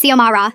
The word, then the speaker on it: Xiomara: Zimara Rodriguez, she'd call out, not even looking up from her clipboard. It's Xiomara, I'd correct politely.